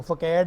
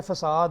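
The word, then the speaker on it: façade: ये स लग जाएगा, जैसे फसाद, ठीक है, FACAD, जैसे वो फकैड नहीं है फसाद है तो सी के नीचे एस लगा होगा तो ये उसकी सिंबल है.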